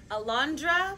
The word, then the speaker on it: Alondra: And the winner is Alondra. Nice name, it rhymes with Malandra.